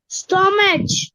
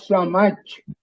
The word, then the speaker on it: stomach: Stomach. Okay. It's pronounced stomach. That's Stomach. Stomach. CH அந்த இடத்துல ஸ்டொமக் கே மாதிரி pronounce பண்றோம். நாட் ஸ்டொமச், ஸ்டொமக்.